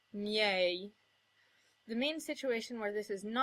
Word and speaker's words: miei: If an I comes right before another vowel, it becomes the glide y, as in miei.